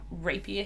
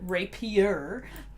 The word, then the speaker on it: rapier: alright so I can rape you him in the face good for it don't mispronounce that rapier that is the sneak